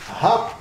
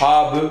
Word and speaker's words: habe: Ich hab hungry. C'est pas hab. Le E en allemand, il se prononce comme en français. E. Ich Ich. habe Hunger.